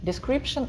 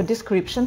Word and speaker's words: description: Description – это описание. Я вот вам сейчас напишу слово description в комментах. Давайте его скажем description. Шн, это вот это T-I-O-N в конце, тион, это шн читается, description.